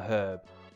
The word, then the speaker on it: herb: According to the list, you get the herb. Or the herb, as any apparently everyone else pronounces it. In England, we pronounce herb with a H. We do not give it silent.